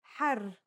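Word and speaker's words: حَرّ: For example, here are two words that have the same letters but are pronounced differently and have different meanings because of the difference in voweling. Har means hot, while hur means free. There are other voweling signs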